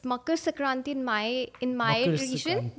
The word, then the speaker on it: Makar Sankranti: Can you please pronounce it one more time? It's Makar Sankranti in my Makar region, Sankranti.